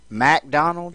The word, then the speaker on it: MacDonald: Susan MacDonald. Yeah. Now come on. She changed her name. It was McDonald without the first A, but because it rhymes with rack, she made it MacDonald.